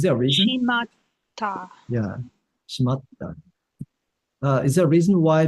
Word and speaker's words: 閉まった: Your pronunciation matters. You said that 閉まった。 shimada. 閉まった。 It sounds like a three more to me when you say it like that.